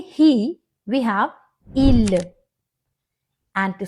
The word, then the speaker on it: il: Here again, S is silent. It's not ils, it is il.